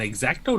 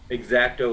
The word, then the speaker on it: X-Acto: That's why I use an X-Acto knife. That's right. You have to say it like that too. X-Acto. Exacto like that. I'm gonna Say make it like you're from the Midwest. X-Acto, yeah.